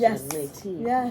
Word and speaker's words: Métis: So like you said Métis, right? Yeah. Whereas I grew up with the French pronunciation, Métis, right?